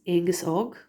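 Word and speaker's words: Aengus Óg: I'm just trying to get the pronunciation for you. So Ridgera Chinny is Cuchulainn. Ridgera of Ishka is Aengus Og.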